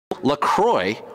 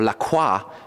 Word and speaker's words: LaCroix: sits on the shores Croy or Lacroix if you want to be French about the pronunciation is actually headquartered in